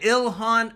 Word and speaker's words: Ilhan: Ilhan Omar's pronounced name correctly. So, we got it. Ilhan Omar.